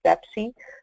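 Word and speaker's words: BEPCI: BOMA energy performance contractor, BEPSI, pronounced like Pepsi, the soda, but with a B as in boy, has a toolkit that I'll talk a little bit more about here in a minute.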